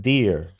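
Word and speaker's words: Deere: Oh, pronounce it deer. Okay, deer.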